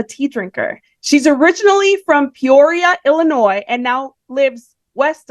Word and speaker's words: Peoria: Did I pronounce Peoria properly? Yep. That's how you say it. How do you pronounce it? Peoria. Okay. I was wondering if there was I got a Midwestern accent, so that's the only difference between the way I say it and the way you say it.